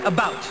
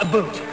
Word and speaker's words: about: French not American and I pronounce it about not a boot I can proudly sew